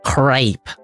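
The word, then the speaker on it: crêpe: crap I should just crepe crepe it's pronounced crepe okay all right she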